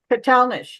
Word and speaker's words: Catalanich: Milwaukee railroaders who the Catalanich brothers. Am I pronouncing that right, Mary? Catalanich? Katalnish, yeah.